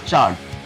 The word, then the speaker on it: Chard: থাকছে ইলেকট্রিক গিটারের উপর সি এইচ এ আর ডি বলে একটা কোম্পানি আছে চার্ট উচ্চারণটা হলো চার্ট এরা ইলেকট্রিক গিটার বানায়